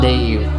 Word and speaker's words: Dev: I got a friend named Dave, spelled D-E-V, but pronounced Dave, rhyming with brave, he craved a rave.